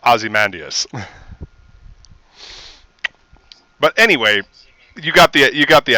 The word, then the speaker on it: Ozymandias: I believe it is correctly pronounced Ozymandias.